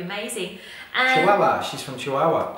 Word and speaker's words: Chihuahua: and Chihuahua she's from Chihuahua Chihuahua is that how you say it Chihuahua like the dog yeah yeah W yeah wow